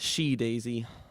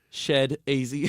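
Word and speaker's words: SHeDAISY: Is that how you say it? Shadazy? Shadazy. Okay. Yeah, I was they're saying great. she-daisy. Yeah, That and I would was be saying incorrect. it harder on the S-H-E-D. Shed-azy. Yeah.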